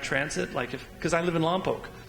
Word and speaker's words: Lompoc: People getting out of their cars, getting into rapid transit, because I live in Lompoc, it's pronounced Lompoc, to get in the